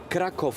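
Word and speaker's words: Kraków: in it that's why to say it correctly it's Krakov square said mixture Street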